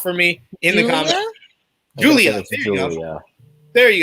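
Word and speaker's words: Giulia: from Slam and Sammy Joe saying, waiting for Guluda to make her American debut. I probably said that wrong. I'm bad at pronouncing things in this episode. So sound it out for me in the comments. Julia.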